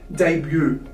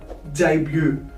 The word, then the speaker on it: debut: Now, finally, we have the word debut. Debut. So as you can see, the DE here is spelled as day. And the BUT here is spelled as bu.